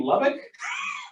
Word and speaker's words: Lubbock: I go, you mean Lubbock?